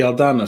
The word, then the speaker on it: Aldana: Pierre Maro of the Aldana school. I'm sorry. Spell that.